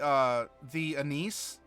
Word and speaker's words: anise: As for peppered, I don't know if I've ever had peppered licorice, because the anise, or anise, depending on how you want to pronounce it, if you get it